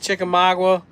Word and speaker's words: Chickamauga: Lake Chickamauga.